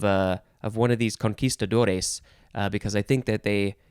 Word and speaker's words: conquistador: next word is conquistador you could say conquistador because that's how it's spelled but that is uh more an american way to say it because a lot of americans don't know spanish conquistador that's how it's pronounced conquistadores would be plural